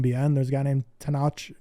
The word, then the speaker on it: Tenoch: itu Mama Tom bien there's a guy named tanache tenoch and that's how they pronounce it yeah so to know has been